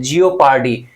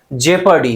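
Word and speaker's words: jeopardy: देखो यहां पे इसका प्रोनाउंसिएशन बहुत लोग गलत करते हैं, जियोपार्डी, इसलिए मैंने इसका प्रोनाउंसिएशन दिया है जेपर्डी। क्या बोलेंगे इसे? जेपर्डी, जेपर्डी। क्लियर हो गया भाई?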